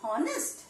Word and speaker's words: honest: But do we pronounce honest? No. The pronunciation is honest. So H is silent here.